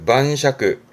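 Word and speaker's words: 晩酌: 발음은 만샤크.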